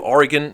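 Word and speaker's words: Origen: of the 3rd Century according to Oregon or origin as many people pronounce it you sure would even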